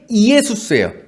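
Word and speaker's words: Ἰησοῦς: 근데 이것이 이 여호수아의 정확한 헬라어 발음은 원래는 이에수스예요. 이에수스. 근데 이것을 한글로 바꿀 때 뭐로 바꿨다? 예수로 바꾼 거예요. 이에수스를 빨리 발음하면 예수 된 거잖아요.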